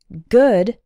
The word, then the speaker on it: good: involves the ooh sound the word good is not like food there are two different sounds there good has the